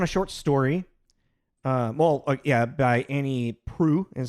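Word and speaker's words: Proulx: By Annie Proult is how you pronounce her name.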